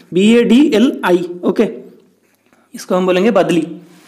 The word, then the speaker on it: बदली: यहाँ पे आंसर दिया गया है, यहाँ पे बदली का स्पेलिंग थोड़ा गलत लिखा गया है, BADLI, ओके, इसको हम बोलेंगे बदली।